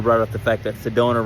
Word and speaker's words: Sedona: up the fact that Sedona rhymes with Arizona and it said they